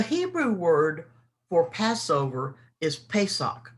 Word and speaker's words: Pesach: sacrifices so the hebrew word for passover is pesach it's p-e-s-a-c-h pronounced pesach and it means to come under the